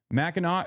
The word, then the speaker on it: Mackinac: Mackinac is how it's pronounced.